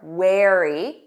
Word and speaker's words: wary: Notice that pronunciation. Air. Wear. Wary.